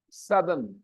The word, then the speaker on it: southern: o u t e r n and the pronunciation is Southern Southern okay A lot of people do not pronounce